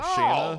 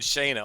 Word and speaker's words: Shanna: Because I've been saying Shayna all this time. Well, it's Shanna.